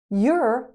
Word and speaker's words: you're: Your and your sound exactly the same. Your English is very good. You're a good student. Same pronunciation.